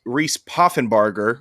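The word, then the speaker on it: Poffenbarger: points that's good Reese puffenbarger which is how the play-by-play commentators pronounced it which I'm gonna take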